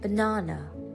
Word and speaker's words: banana: အတန်ဖိရမယ့်နေရာကတော့ကျမတို့ first syllable pie မှာဖြစ်ပါတယ်အဲ့တော့အတန်ထွက်ကြည့်မယ်ဆိုလို့ရှိရင် pineappleနောက်ထပ် examples လေးတွေကတော့ banana 3 syllables ရှိပါတယ် second syllable မှာ stretch လုပ်ပါတယ် strawberry